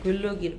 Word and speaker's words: glögg: 굴럭이에요. 굴럭이 굴럭. 발음이 꼭 잘못하면 양파로 되는데. 자, 굴럭이라고.